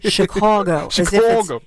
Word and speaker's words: Chicago: By the way, that's the way you're supposed to say Chicago. K A W G O.